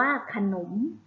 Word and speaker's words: ขนม: ขนม นะ คะ คะ อักษร สูง นํา อักษร ต่ำ ก็ คือ จะ ออก เสียง สระ อะ คือ เสียง พยางค์ หลัง อัน มี หอ นำ ฮะ ขนม อ่าน ว่า ขนม เอา ไป คำ ต่อ